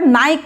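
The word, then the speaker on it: nyct: সে কিন্তু রাতের পাখি, রাতে যত, তো নকটার্নাল থেকে মনে রাখতে পারেন উচ্চারণটা নাইক হবে, উচ্চারণটা নাইক হবে।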